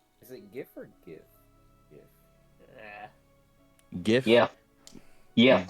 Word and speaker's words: GIF: GIF. Yes. GIF with a soft G because it's not, you know, it's G.